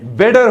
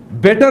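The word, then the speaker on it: better: क्या प्रोनाउंस होगा? बेडर होगा. हाउ डू इंग्लिश पीपल और native pronounce it? They pronounce it एज अ बिडर. ये इस तरह प्रोनाउंस करते हैं, बिडर. बेटर नहीं होता, ये बिटर नहीं होता, ये बिडर होता है.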